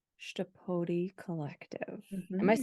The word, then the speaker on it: Chtapodi: Let's talk a little bit about the name Chtapodi Collective. Am I Mhm. saying it right? I actually Googled it. So, Yes. So yeah, Chtapodi Collective.